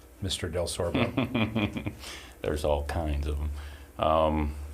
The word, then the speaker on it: Delsorbo: and it's, if you just read it, it's pronounced exactly like it's spelled, but it's difficult. We're the only one in Tennessee. The only Delsorbo.